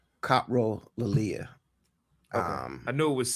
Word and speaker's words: coprolalia: Yeah, I think the correct pronunciation is Copro Lilia.